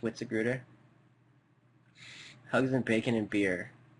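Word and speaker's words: Witzigreuter: It's pronounced Witziger.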